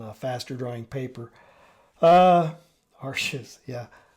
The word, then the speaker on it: Arches: faster drawing paper uh Ares yeah how do you say that it's Arch I'm pretty sure it's Arch it's French right uh anyway working with